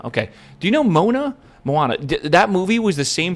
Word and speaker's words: Moana: Do you guys know Mona?